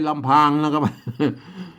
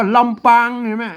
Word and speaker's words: ลำปาง: รำ อ่าน ว่า ลำปาง นะ ครับ แหม่ ไม่ ใช่ ลำพัง อัน ต้อง อ่าน เนาะ